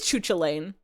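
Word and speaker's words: Cú Chulainn: I don't know anything about sports and they it's pronounced Oh, it is Chucha Lane.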